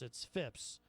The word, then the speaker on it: Phipps: I think I said his name wrong earlier. I said Phillips. It's Phipps. Phipps.